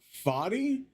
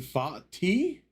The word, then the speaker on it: Fati: Also, by the way, I've learned that apparently this guy, his name is not Fi, but Fati Fati. I think I I I think I should be pronouncing the T better, but I'm not sure.